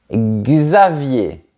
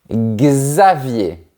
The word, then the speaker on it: Xavier: Xavier. C'est comme si on avait la lettre G et la lettre Z juste à côté. Xavier.